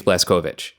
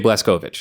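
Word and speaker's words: Blazkowicz: that name and well you'll never hear anyone pronounce it that way throughout the entire game he's blessed Kovich blessed Kovich yeah BJ bless Kovich BJ bless Govich so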